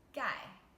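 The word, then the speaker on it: 盖: a ball of rice the first character guy guy it's a fourth tone gai means covered and the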